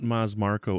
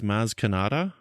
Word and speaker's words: Maz Kanata: It's not Maz Marko, it's Maz Kanata.